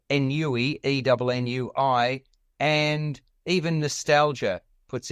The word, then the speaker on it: ennui: And that's when anxiety, envy, embarrassment, and ennui come to the fore. And as I mentioned, nostalgia. It's pronounced ennui, Alex. On what is it? Ennui. It's a French word.